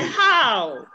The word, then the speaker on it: how: who again beautiful say how there is a diphthong in how how how and that diphthong must be realized in your own pronunciation say how how how